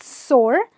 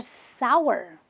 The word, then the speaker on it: sour: then some graves are they're not sore they're sour sour so if something has got this bittery taste what do you say say oh my god i don't want to eat this it's too sour not sore sour now this word practically